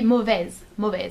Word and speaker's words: mauvaise: However, if you wanna say mauvais at the feminine, it's gonna be mauvaise. So you add an E and you pronounce the S at the end.